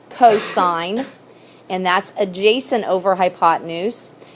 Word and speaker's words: cosine: on your calculator button it says cos don't call it costs okay you're going to know that that stands for cosine and that's adjacent over